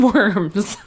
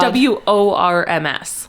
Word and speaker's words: Worms: W-O-R-M-S. Yes. Like, okay. Just spelled like worms. I mean, it's probably verms, right, but it is absolutely spelled like worms.